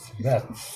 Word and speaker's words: wreaths: এখানে র্যাথ কথাটা আমরা উচ্চারণটা অনেকে ভুল করি, WREATHS, র্যাথস, সরি র্যাথস বাংলা।